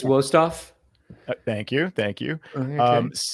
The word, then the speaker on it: Westoff: Kevin Ginger, Dave Provine, Matt Westoff. Can one of you guys correct me on the pronunciation, please? I think you're good there. I believe it's Wostoff.